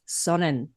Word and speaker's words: Sonne: We were having a private little chuckle there because your handle is spelt SONNE. And I asked, is that sun? And you said, no, it's Sonnen.